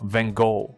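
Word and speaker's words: Van Gogh: 所以他们在对这个梵谷啊，Van Gogh，所以让你知道一下他的名字怎么念，Van Gogh，梵谷。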